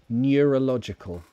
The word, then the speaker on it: neurological: to unfortunately yeah Kisame neurological near new it's like n ya neurological abdullah confession it's like